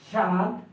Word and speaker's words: স্বাদ: হবে বাংলা ব্যাকরণ বলে শব্দের শুরুতে বফলা থাকলে বফলা এর উচ্চারণ হয় না অর্থাৎ আপনি যখন একটি